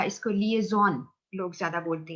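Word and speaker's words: liaison: आपने, कुछ लोग लाइजॉन भी कह देते हैं इसको, लाइजॉन डिपार्टमेंट भी कह देते हैं, कनेक्टिविटी, ठीक है। बट द करेक्ट प्रोनाउंसिएशन है लिएजॉन, यानी लोगों को आपस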